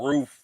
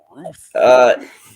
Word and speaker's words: Ruth: Roof, like Ruuff. Roof. Bitchy says that to me too. I say what? When I say roof, because I don't pronounce. Christ. Birthday. Shut up. So Ruth. It's adorable. Oh, he almost got most of the TH that time.